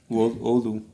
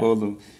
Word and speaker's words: Oulu: And so the name of the town where you're born, how do you pronounce that? Oulu. Oulu, yeah. Oulu.